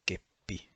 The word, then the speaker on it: keppi: But for example, a double P is pronounced as a keppi with a thick P sound, and the double L